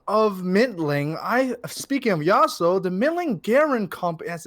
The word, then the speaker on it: Yasuo: really knew was that yasiyo or how do you pronounce the name yasuo yeah yasio okay anyways but yeah